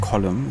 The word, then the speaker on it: Colm: And as you found out, Colm is pronounced Column since it's an Irish name.